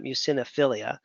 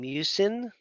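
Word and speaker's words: muciniphila: That guy, you can see in his name, mucinophilia, Akkermansia mucinophilia. I always say philia. I think it's actually phila, but I've heard people say it philia also.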